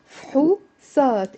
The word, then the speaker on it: فحوصات: فحوصات. It's two syllables in the Lebanese dialect.